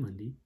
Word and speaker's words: Mundi: sundi then we got mundi okay but mind you sunday is spelled s-u-n-d-i monday is spelled m-u-n-d-i so we got sundee and mundy and you'd think maybe